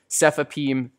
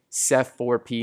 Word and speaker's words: cefepime: simple fourth generation cephalosporin cefepime SEF four p m-- and Pseudomonas has four